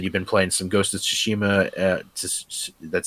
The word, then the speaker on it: Tsushima: uh you said you've been playing some ghosted tsushima uh that's how you pronounce it right yeah yeah you're right and